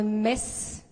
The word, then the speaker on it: Metz: cidade que se chama Metz, pronunciada muitas vezes Metz, mas nós não gostamos porque tem relação com uma fase da história muito sombria de dominação da Alemanha. E daqui em Portugal, de